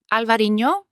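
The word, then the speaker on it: Albariño: And I'd like you to pronounce it because... Yeah, so this is Albarino.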